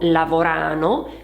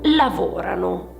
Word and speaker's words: lavorano: Ebbene devi ricordare che quando coniughiamo il verbo al presente indicativo alla terza persona plurale c'è uno spostamento dell'accento per fare un esempio non si dice Loro lavorano bensì Loro lavorano si tratta di un vero e proprio Cambio nella pronuncia c'è uno spostamento dell'accento che passa dalla desinenza alla radice quindi diciamo dall'ultima parte